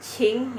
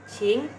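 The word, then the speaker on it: 请: Nah, Q-nya ini ya, itu kan Qing ya, dari silahkan, Qing. Nah, itu dibacanya CH ya teman-teman. Bukan King, bukan Qing gitu, bukan ya teman-teman ya.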